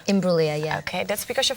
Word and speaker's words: Imbruglia: is Natalie Imbruglia. Did I say it right then? Yeah, you did. Well done. Imbruglia. Imbruglia, yeah.